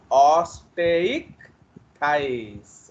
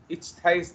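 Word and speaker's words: Osteichthyes: तो ऑस्टेइक थाइस। Okay, तो इक्थाइस है वो, इचथाइस नहीं, इक्थीस, ऐसे बहुत लोग टेढ़ा मेढ़ा बोलते हैं। This is ऑस्टेइक थाइस।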